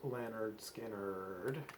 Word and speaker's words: Lynyrd Skynyrd: can do that all right their first album pronounced leonard skynyrd is right here and this is one of